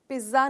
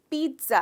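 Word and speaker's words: pizza: इसको जनरली हम दोस्तों पिज़्ज़ा कहते हैं, पर इसका करेक्ट प्रोनाउंसिएशन पिज़्ज़ा नहीं है, पिज़्ज़ा है। अब आप सोच रहे होंगे ये टी कहाँ से बीच में आया, मुझे नहीं पता दोस्तों,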